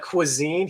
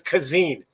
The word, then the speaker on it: cuisine: names and then he pronounces everyday words like quisine he says kazen which the character the